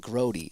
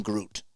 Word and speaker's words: Grote: Long E at the end. Grote. Okay. I call him I am Groot.